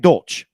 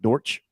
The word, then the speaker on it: Dortch: a championship game and Greg dolch or I think that's how you say it Dortch uh 12 roster 44-55